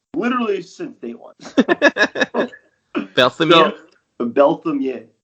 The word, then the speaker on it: Berthomieux: with this technically like my name is pronounced belam it's very French I've been listening people butcher my name literally since day one Bel belam M yeah all right